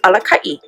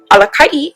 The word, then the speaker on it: Alakaʻi: When we look at the word leader, translated into Alelo Hawaii, it is Alakaʻi. Alakaʻi is spelled A-L-A-K-A-Okina-I.